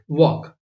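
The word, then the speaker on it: walk: जैसे एग्जांपल के लिए वॉक यहां पर एल जो है ये साइलेंट है आप इसे वक बोलते हैं जैसे के एन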